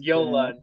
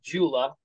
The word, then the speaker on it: JOOLA: there from Yola and it's pronounced Yola not Jula it's a German company they're they're really well